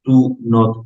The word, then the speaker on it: don't: you do not esta palabra se pronuncia do pero cuando abreviamos y juntamos el do y el not se convierte en don se convierte en don Entonces siempre que ustedes